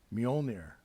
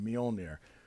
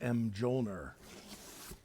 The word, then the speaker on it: Mjölnir: hammer of Mighty Thor mjolnir as they say mjolnir I used to pronounce it as m joner when I was a